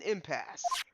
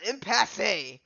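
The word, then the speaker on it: impasse: we are in an impass the E is silent then why is it there that's just me the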